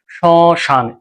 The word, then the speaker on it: শ্মশান: তাহলে শশান উচ্চারণটা কেমন হবে? শশান। সতে একটু নাকে বাঁচবে। যেহেতু ওখানে চন্দ্রবিন্দু দেয়া আছে। শশান। এরকম হবে।